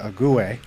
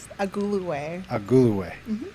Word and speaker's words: Agulue: And Amaka Agulue, which I believe I pronounced correctly this time. Almost. Agulue.